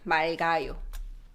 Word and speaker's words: 맑아요: But when you change to 아요 form, we pronounce both. It gets pronounced 맑아요.